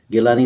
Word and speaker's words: Gilani: Gilani Saab was a very tall leader for the last 40 to 60 years.